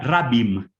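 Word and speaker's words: רַבִּים: Y es que nos metimos a tocar un término que en hebreo se pronuncia rabim, rabim, en que se traduce al griego poloi, que tiene distintas traducciones y que San Pablo usa y mucho.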